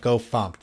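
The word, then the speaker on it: gofumpt: Speaking of RoguePike, apparently Go FMT is Go Fumped when you do that. You should pronounce that Go Fumped.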